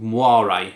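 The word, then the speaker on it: moiré: if it did that horrible effect it's called muare it's very difficult to pronounce m o i r e with an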